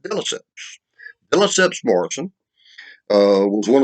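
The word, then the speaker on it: deLesseps: e s s e p s and it's pronounced delicious villaceps morrison uh was one of the two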